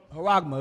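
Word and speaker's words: χάραγμα: Haragma, it pronounces it. So you know how it's pronounced. Strong's G, 5480. Charagma.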